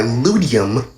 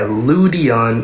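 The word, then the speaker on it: Ludeon: Rimworld is developed by Ludium. Let me check if I am pronouncing it right. Yeah, Ludion. Oh, Ludion. Okay, so I got that wrong off the start.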